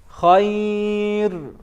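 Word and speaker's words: خير: Ra here, to be pronounced correctly, it's very hard. So this would be the way. Khayr, khayr, khayr, It's coming from a full mouth.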